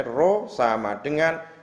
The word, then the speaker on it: rho: dituliskan dalam bentuk persamaan rho ini membacanya rho bukan p rho = m/v ulang rho